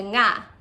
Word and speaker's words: nga: in tagalog so um a really cool way to pronounce nga is by saying singing and you kind of take the from singing and you turn that into na so it's definitely a